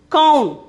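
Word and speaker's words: कौन: The first one we can see kaun. Kaun. The pronunciation is kaun.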